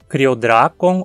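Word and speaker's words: Cryodrakon: A sílaba dra não termina em consoante, nem tem vogal longa ou ditongo. Note que o O na última sílaba sim é longo, mas essa sílaba não interfere na acentuação. A única que importa para determinar a sílaba tônica é a penúltima. Como na penúltima nenhum requisito se aplica, a pronúncia é criodracon.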